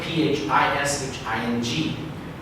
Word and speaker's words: phishing: It's spelled P-H-I-S-H-I-N-G. And you can actually change it to F-I-S-H-I-N-G, phishing.